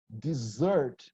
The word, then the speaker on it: dessert: again observe the pronunciation desert the stressed syllable is the second here the slurped Brazilian